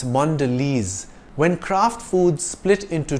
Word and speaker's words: Mondelez: multi-air is the French word for luggage maker Mondelez is the American multinational company that makes and bakes Brands like Cadbury Oreo and five star it's not pronounced Mondelez or mondele it's Mondelez when Kraft Foods split into two companies it